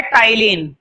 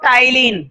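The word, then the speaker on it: ptyalin: एक होता है टाइलिन, स्पेलिंग जरूर देख लेना, यहाँ पर पी साइलेंट है, अब पढ़ते हैं इसको टाइलिन, ए भी साइलेंट है एक्चुअली, टाइलिन, ठीक है।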